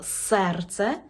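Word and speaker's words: serce: У польській мові «е» читається як звичайне «е». Ні в якому разі не «є», це не російська мова. Наприклад, ми маємо слово «серце», значить чітко вимовляємо «е». «Серце». Не серце, серце. Наприклад, ми маємо слово «нумер». Не кажемо «нумір», «нумер». Погодьтеся, що є різниця між «нумер» і «нумір». «Нумір» неправильно. «Нумер».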